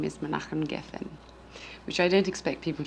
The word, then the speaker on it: Menachem Geffen: My husband is an Israeli, and his name is Menachem Geffen, which I don't expect people to be able to pronounce first time around because it took me some time to learn too.